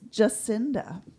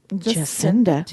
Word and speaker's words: Jacinda: It's Jacinda. Jacinda, like the jacaranda trees.